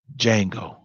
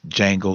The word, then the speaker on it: Django: house Django d.j a in G Oh the D is silent we have to come